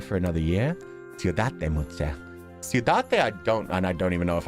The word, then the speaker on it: Cuídate: Cuídate, dang it. I never know whether it's a soft C or a hard C. Cuídate mucho.